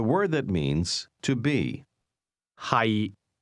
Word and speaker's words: 係: 係 The difference is that to be is pronounced with a low, level tone, and to be located is pronounced with a mid-rising tone.